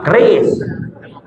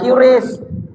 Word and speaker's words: keris: Nah keris, bacanya keris itu yang benar, bukan QRIS.